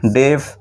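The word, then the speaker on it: deaf: তারপর যেমন ডি ই এ D, date, D ই এ এফ, ডেফ, এইচ ই এ এল টি H, health.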